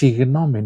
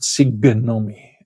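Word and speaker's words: συγγνώμη: Because it's written with two gamma often and it is pronounced signomi, not sigonomi.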